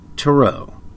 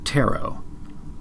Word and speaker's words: tarot: the subject at hand which is taro or taro however you prefer to pronounce it and more specifically the